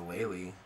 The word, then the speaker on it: Lehle: I think the best one's the Lely. That's spelled Lehle.